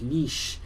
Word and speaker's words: niche: Niche isn't really an English word. It's a borrowed word from French. And as is such, the correct pronunciation is niche.